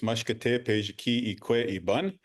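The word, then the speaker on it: Mashkode Bizhiki'ikwe Iban: Yeah, your pronunciation is close. It's always phonetic. It's Mashkate Pejiki Ikwe Iban. And that is the Anishinaabe term for the late Buffalo Woman.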